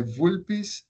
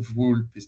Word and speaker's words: vulpes: Então, na na pronúncia do reconstituído, não, na pronúncia clássica, seria algo como ulpes. Ulpes, não, vulpes, né?